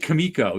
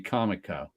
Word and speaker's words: Comico: kamiko book definitely rootch I always said it kamiko even though I think it's supposed to be Comico yeah everybody started sing